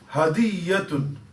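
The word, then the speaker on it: هدية: The correct pronunciation is hadiyatun. Hadiyya. We know we say hadiyya in Urdu as well. Hadiyya. Hadiyya like yes, or hadiyya like. It's really, it's that hadiyatun. The ya has got a tashdid, a shutdown in it.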